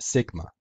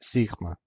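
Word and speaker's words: σίγμα: In classical Greek, it was pronounced sigma. In Koine, in modern Greek, it's pronounced sigma.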